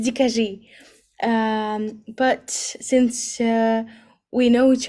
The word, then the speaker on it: Dikajee: Yeah, I heard Dikajee and even Dikayee.